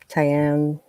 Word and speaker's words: Tyann: Tyann, which is pronounced like with a long I and a silent E.